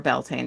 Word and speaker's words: Beltane: you know, every time we do Bealtaine or Beltane, depending on how you want to pronounce it.